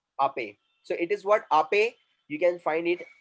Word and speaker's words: Ape: So whenever we have a word in English which is containing E at the end, the sound is what A. So we are going to put there acute accent E.